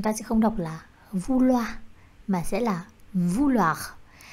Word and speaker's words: vouloir: Tất cả các cái đuôi trong tiếng Pháp mà có chữ R thì các bạn sẽ phải đọc là R. Có thể đọc mạnh, có thể đọc nhẹ, tuy nhiên nó phải xuất hiện.